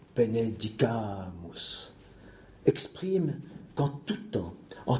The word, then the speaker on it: benedicamus: Le subjonctif du verbe benedicere, qui se manifeste par la voyelle A, celle qui porte l'accent tonique, benedicamus, exprime qu'en tout temps,